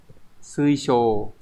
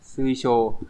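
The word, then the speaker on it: 水晶: Thì chữ tinh sẽ đọc là shō, các bạn nhớ trong từ thủy tinh chẳng hạn. Sui shō. Đây. Đọc là shō nha. Sui shō. Như vậy kết tinh sẽ là kesho.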